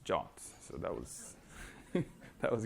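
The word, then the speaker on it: JWT: that session was I now know how to pronounce jots so that was that was great uh well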